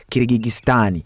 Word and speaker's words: Kyrgyzstan: Eggwanga eryo mulimanyi pronunciation yaalyo Senyango balita Kyrgyzstan era nga yali alikulembera bamuyita Askari Akayev.